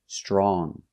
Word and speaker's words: strong: Another adjective, strong. Again, you make the nasal sound, strong, not strong, but strong. If I change strong with er and compare and say stronger, then we pronounce the g. Stronger. He is stronger than his brother. And with est, strongest, again we pronounce the g sound. He is the strongest person in the family. Strongest. So remember, strong, no g.